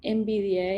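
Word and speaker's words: NVDA: es pago y después el más usado se llama envidia y se escribe nv de a igual después si quieren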